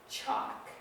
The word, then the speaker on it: chalk: He could smell the chalk. Now chalk is another spelling mistake here. It looks correct, chalk, but it's not spelled correctly. So chalk is C-H-A-L-K. Again, we have a silent L in that word.